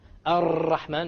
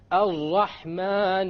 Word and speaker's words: Ar-Rahman: You cannot allow the tongue to roll. Ar-Rahman is a mistake. Ar-Rahman Ar-Rahim. No rolling. So it is very important when we pronounce the R, the ra in Arabic, we don't say ra, because it is a mistake. Rather, we say ra. One precise ra.